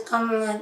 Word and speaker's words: Kamala: When my grandmother had the same exact name, it is pronounced as Kamala Daly.